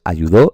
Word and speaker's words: ayudó: Pues para eso tenemos las reglas de acentuación de las palabras y en este caso sabemos que esta palabra se pronuncia ayudó porque lleva aquí la tilde.